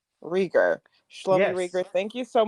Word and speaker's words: Reiger: the podcast yeah definitely my first name is pronounced schamy um last name riger riger schy rer thank you so much for joining